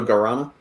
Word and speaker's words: guarana: like gurana guarana no i just don't pronounce the u so guarana yeah yeah exactly google